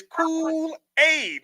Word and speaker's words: Kool-Aid: And it's spelled like the fucking Kool-Aid. It's Kool-Aid. Like it is literally Kool-Aid.